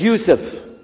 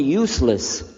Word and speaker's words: Yousef: we'll work on itah my name is Yousef can you say Yousef you say Yousef you're very good I wish you teach my wife she keeps mispronouncing it she calls me useless alhamdulillah now how many